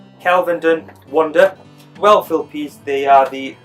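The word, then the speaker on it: Kelvedon Wonder: Again, let's go for the pronunciation. It's actually called Kelvenden Wonder.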